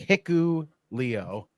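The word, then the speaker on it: Hikuleo: good job yeah it's it's h i k u l EO yeah that's how you spell it's like hiu Leo and you know if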